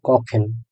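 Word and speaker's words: kochen: একত্রে কখেন।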